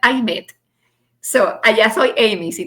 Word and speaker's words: Aymette: Es difícil para los americanos pronunciar I met.